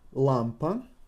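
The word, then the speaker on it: лампа: on the emphasized letter lampan is lamp Lam ba have the emphasis on a Lampa what would be the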